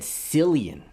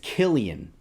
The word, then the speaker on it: Cillian: corrected me Killian Murphy I said Cillian with confidence his name is Killian and I called him